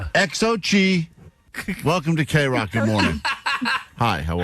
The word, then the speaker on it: Xochi: We say good morning now to Uh how am I supposed to pronounce this name, guys? They put an Why would you What? Xochi.